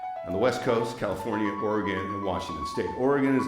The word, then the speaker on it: Oregon: Don't say Oregon. That that will let people know you're an out of towner. It's Oregon. Okay? It's like O R E G I N, not O.